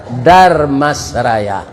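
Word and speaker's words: Dharmasraya: Maka namanya Damasraya. Artinya tu di sini ada uda, ada emas. Uda orang awak, emas orang orang Jawa. Supaya jan patah lidah membacanya ditambah jo R, Darmasraya.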